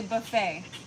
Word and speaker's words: buffet: enough coffee yet say Buffet Buffy Buffy little Buffy what's up teren Seymour Harry Carpenter say everybody from Boulder Colorado the tea is silent hi what te the